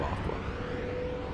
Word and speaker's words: Aqua: There it's it's like a U qua which would be like the similar pronunciation of Aqua. Aqua. Yeah. The U is silent.